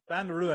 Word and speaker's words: Van Rooyen: And how do you pronounce his last name? Rooyen? Rooyen. Van Rooyen.